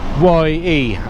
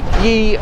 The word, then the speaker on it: ye: pronounced ye, but it's not the personal pronoun ye, as in you familiar plural, or you when talking to a member of the nobility. The letter sets that they imported from Belgium, Caxton and that lot, didn't have the thorn in their alphabet, so they just instead did a Y with a little sort of like thing on top, and that meant the. But it used to be